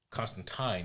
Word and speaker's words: Constantine: Uh, but Alan Moore has uh, claimed to have seen John Constantine in real life. Constantine is the way it's supposed to be pronounced.